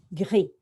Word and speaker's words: gris: So what they're doing in their head, they're going ge, e, they're blending it and saying gris.